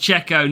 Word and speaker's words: Checo: It's pronounced Checo, not Sergio. I'm calling what I want. But I'll tell you what, Max Verstappen calls him Checo.